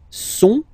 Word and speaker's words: sont: Ils sont, final T not pronounced, ils sont, elles sont, okay?